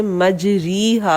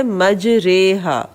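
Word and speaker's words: مجريها: اگر ایکچول ہم اس کی حرکات دیکھیں تو وہ ایسے لگتا ہے کہ ہمیں اسے مجریہا پڑھنا چاہیے کیونکہ را کے نیچے کھڑی زیر ہے، لیکن اس کو پڑھنے کا تلفظ جو ہے انہوں نے آگے دیا ہوا ہے مجریہا.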